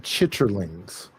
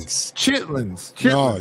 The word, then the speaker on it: chitlins: Do y'all eat chitlings? No. I love chitlings. Hot sauce. And it's You pronounced the You pronounced it wrong. It's called lining. Chitlins.